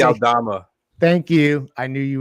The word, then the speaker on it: Aldama: Aldama. Thank you. I knew you would know his name.